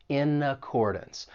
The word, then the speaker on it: accordance: And keep in mind that final syllable in accordance even though it's spelled d a n ce. You're not going to say dance. It's going to have that schwa sound. It's going to sound like dunce.